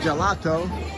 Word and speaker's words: gelato: GH sound will toggle it over from the J sounding gelato to the G sounding and ghetto GH.